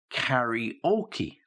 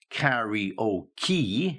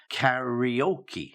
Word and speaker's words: karaoke: what you're saying but I think it's actually pronounced karaoke yeah not Carrie or key yeah it's karaoke yeah not karaoke it's karaoke okay so yeah